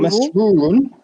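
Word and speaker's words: مسرورٌ: but I'm not sure how do you read it. Ana masruri or masruru. Masrurun. Yeah, ana masrurun.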